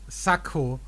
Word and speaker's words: Sakko: That pronunciation, Sakko, that's again a German pronunciation. Because I don't know if in Austria we pronounce it closer to the original, I think, French word, Sakko. Not Sakko. I think that's just a pronunciation difference between Germany and Austria, though.